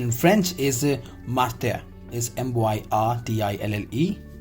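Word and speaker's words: myrtille: Pronunciation in French is martille, is M-Y-R-T-I-L-L-E. Pronunciation is martille, M-I-R-T-E-A.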